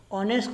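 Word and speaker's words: honest: लेकिन ध्यान देने वाली बात है, ऑनेस्ट को जब हम प्रोनाउंस करते हैं तो यहाँ पहला जो लेटर है वो ऑ से स्टार्ट होता है, राइट।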